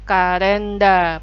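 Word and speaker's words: カレンダー: Biasanya ada kalender kalender juga disebutnya dalam huruf Katakana ya jadinya karenda panjang ya silakan fokus ke huruf Jepangnya karenda Hai baik nah ini juga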